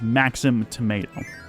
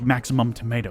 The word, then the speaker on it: Maxim Tomato: with the the tomato the official name is maxim tomato the issue is i always pronounce it like maximum tomato because it just sounds like it would be more preferred that way it's really